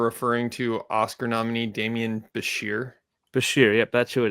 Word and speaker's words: Bichir: Can I assume that you were referring to Oscar nominee Demian Bichir? Bichir, yep, that's who it is. Not yes. Bitcher?